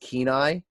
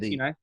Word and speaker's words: Kenai: Most of the listening populace is it's pronounced Kenai, but I like to say Kenai.